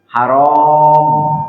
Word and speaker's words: haram: Nah, di sinilah yang perlu kita sampaikan bahwa haram itu tergantung cara membacanya. Kalau rohnya panjang, haram itu artinya dilarang.